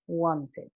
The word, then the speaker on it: wanted: la siguiente manera, wanted, y se pronuncia como que aquí hubiese una I y una D, wanted.